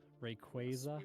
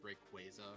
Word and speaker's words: Rayquaza: one oh no are we going to have pronunciation conflicts Rayquaza will yeah it's mostly Steve who does it okay oh really I used to do it too I've always known it was Rayquaza because I knew about the word like quazar